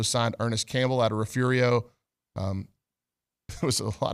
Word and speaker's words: Refugio: the press conference hey it's actually not pronounced the way it's spelled you know phonetically it's refed it is Refugio but it's pronounced refurio so anyway I didn't